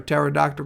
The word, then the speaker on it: pterodactyl: There's a really good reason you can't hear a pterodactyl go to the bathroom. Do you want to know why? Because the P is silent.